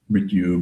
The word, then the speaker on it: Mrityu: Mrityu, Mara.